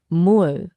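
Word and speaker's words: 물: In Korean, it's Mur, pronounced Mul.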